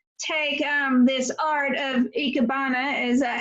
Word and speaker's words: ikebana: or made you take um this art of ikebana is that how you pronounce it yes yeah and what made you